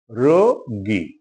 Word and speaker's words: রোগী: একটা ইন্টারেস্টিং শব্দ বাংলা ভাষায় উচ্চারণের ক্ষেত্রে খুব ইন্টারেস্টিং রোগী 98 শতাংশ লোক এটাকে রোগী বলে এটা হসু না রয় ওকার রোগী রোগী আজকে এ পর্যন্তই ভালো